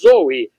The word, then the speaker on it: zoe: Deus ou vida eterna, são pronunciadas Zoe, Z-O-E, Zoe, vida.